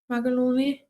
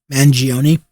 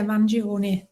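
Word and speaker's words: Mangione: Magalone Manion from custody. Yeah, Manion. Thank you. Sorry, I butchered that.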